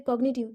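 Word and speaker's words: cognitive: देखते हैं जैसे कॉग्निटिव, कॉग्निटिव में भी जी साइलेंट नहीं है।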